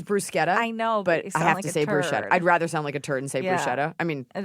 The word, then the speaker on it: bruschetta: The other one is a tricky one, like bruschetta versus bruschetta. Because you sound like a. It is bruschetta. I know, but you I sound have like to a say turd. bruschetta.